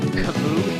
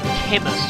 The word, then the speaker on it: Camus: You might notice that I've been pronouncing this guy's name Camus throughout the whole thing. I've gotten a lot of people saying it's actually supposed to be pronounced Chemus or Camus.